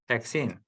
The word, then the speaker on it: hexene: 네, This one we call 한국말로 하면 헥산이고 헥센인데 in English it pronounces hexane, hexene.